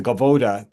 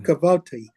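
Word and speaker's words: Gavotte: John gavat I pronoun gavot in German you pronounce the e at the end um gavot a gavot is how I pronounce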